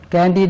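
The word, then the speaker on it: Candide: ഒരു മാറ്റർ അത് വോൾട്ടയറിന്റെ കാൻഡി എന്നാണ് ഉച്ചാരണം കാൻഡി എന്ന് ചിലർ പറയും കാൻഡി എന്ന് പറഞ്ഞാൽ ഫ്രഞ്ച് ഉച്ചാരണമാണ് ആ നോവൽ ഇങ്ങനെ പരിധി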